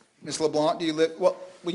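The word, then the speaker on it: Leblanc: name Leblon Miss Leblon do you live well will you do this will you spell your last name for me sure l e b l a n c but the C is silent yes sir okay do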